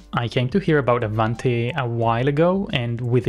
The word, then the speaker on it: Avante: If I got it correctly, Avante means ahead in Spanish and pronounced Avante.